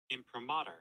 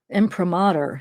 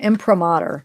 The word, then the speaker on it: imprimatur: how you say it impromatter imprimatur sorry I said that wrong imprimatur okay he felt the